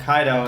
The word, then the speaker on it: Kaido: let's name this dog kaido and then they probably incorrectly called him kato probably yeah yeah have been incorrectly we've everyone's been incorrectly pronouncing the name here yeah but no but